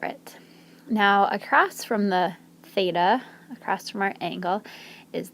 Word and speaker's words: theta: of the alphabet theta you say th and then eight and then uh so theta it's important to know